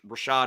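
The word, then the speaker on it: Rachaad: Devin Tomkins and Joe even though it's spelled incorrectly Rashad Rashad is r a c h a a d but I agree with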